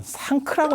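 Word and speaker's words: संघ: 근데 이 서역 사람들은 상크라고 발음을 한다는 거예요. 이거를 상크라고 발음하는데 상크가 그냥 상크가 아니고 상크 크가 거의 묵음에 가까운 거예요.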